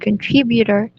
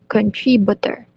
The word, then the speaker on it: contributor: iceland he also mispronounced the word contributor as country butter and the word countries